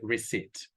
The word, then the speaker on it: receipt: pay attention and receive we don't pronounce the b we say receipt now the same way